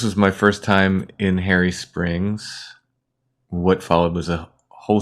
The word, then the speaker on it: Hairy Springs: Then Ken, Chad, and I were in Harry Springs, and that's where this episode starts. Is it named after a man, or is it named after fur? It's spelled H-A-I-R-Y. Oh, Harry Springs.